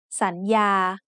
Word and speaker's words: สัญญา: So the first syllable makes the sound สัน with a rising tone. The second syllable has the initial consonant ยอหญิง and the vowel สระอา so it makes the sound ยา with a mid-tone.